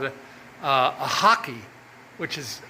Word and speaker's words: rack: It's called a uh a hockey which is rack r a c k but they pronounce it hockey.